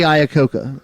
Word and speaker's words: Iacocca: Lee Iacocca is how you pronounce it. His first name is Lee. Oh. His last name is Iacocca.